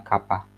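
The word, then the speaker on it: κ: Ini bacanya kappa.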